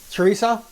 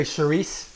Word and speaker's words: chorizo: can they see that chorizo or you can say charisse which is really the right way to say i'm going to add